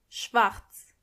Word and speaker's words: schwarz: Black means schwarz, schwarz. And make sure you are pronouncing the R correctly. Schwarz, schwarz.